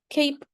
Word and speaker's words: cape: Without the silent E or the E, it's cap. But with the E, it becomes cape.